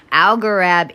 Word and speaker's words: Algorab: Algorab is Al Gore AB. It's how you spell it.